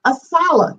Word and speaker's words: ASALH: I'd like to share some information about ASALH. That's how we pronounce our acronym.